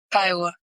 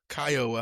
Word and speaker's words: Kiowa: Kiowa. Kiowa.